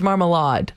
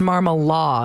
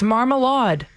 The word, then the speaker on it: Marmalade: like wait no it's marmalade but you're convinced that it's marmal law and i was like no no not a soft d it's a hard d trust me i think